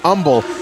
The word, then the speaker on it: Humble: I'm actually surprised he's not from humble Texas. But he's live here tonight in Texas. Cover here. One, two, almost gets the victory there. It's actually pronounced umble as right now Hansen is continuing to stay in this matchup.